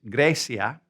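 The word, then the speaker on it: Grecia: Now Albania is same in Spanish pronounce it Albania and their nationality is Arbanes. Greece is Gracia and they are Grigo.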